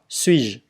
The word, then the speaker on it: suis-je: Rồi, je suis, je ne suis pas, suis-je. Chữ ơ mình không có đọc chữ ơ này không có đọc suis-je là xong.